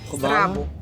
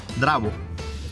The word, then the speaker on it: zdravo: Zdravo. Zdravo? Zdravo. Dravo.